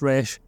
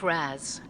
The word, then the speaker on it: Ra's: Look, we all know it's pronounced Ra's, like the comics, like the animated series.